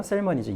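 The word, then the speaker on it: salmonids: 이거는 또 L을 발음하셔야 돼요. 셀머니즈.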